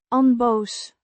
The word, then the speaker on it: onboos: On-bohs. Means unangry or calm, pronounced on-bohs. with a short O sound similar to the o in hot and a voiced s sound at the end.